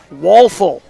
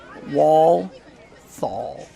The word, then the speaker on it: Walthall: Walthall. So it's spelled with 1 L, then 2 L's, but it's pronounced 2 L's and 2 L's.